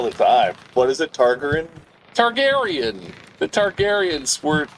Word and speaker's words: Targaryen: You can't pronounce it. They say it all the time. What is it? Targaryen.